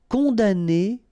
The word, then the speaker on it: condamner: Condamner pour. Remember, we don't pronounce this M here.